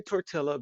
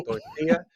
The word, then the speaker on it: tortilla: the El Torito yeah I don't want to say torella because they're L's in my head I want to say tortilla and I want to say it correctly and I say tortilla I want to get